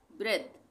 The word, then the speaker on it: breath: Change, यहाँ पे भी चेंजे नहीं पढ़ेंगे, ई का उच्चारण बंद हो जाएगा, खत्म हो जाएगा, तो चेंज। उसी तरह से ब्रेथ, ब्रेथ इसको हम क्या पढ़ेंगे, सॉरी ब्रीथ, ब्रीथ